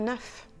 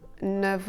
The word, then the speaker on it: neuf: Et enfin savez-vous que le F de 9 est aussi prononcé ? "Tu les as compté? Oui! Il y en a neuf" - "Il a invité neuf amis". Et on dira "neuf enfants". Mais on dira "neuf ans" ou "neuf heures". Le F de neuf, devant les deux petits mots "an" et "heure" se prononcera [v]: "il a 9 ans"